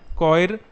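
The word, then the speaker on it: choir: वो हैं army, band, कॉयर, इसको कॉय बोलते हैं, ये आर साइलेंट रहता है, ठीक है, स्पेशल तरीके से प्रोनाउंसिएशन है इसका, club, crew, company, firm, gang, government, orchestra, party और स्टाफ।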